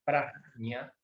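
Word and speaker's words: Prajñā: El modo de escribirlo es así, con esa J, Prajna, pero la J no se pronuncia.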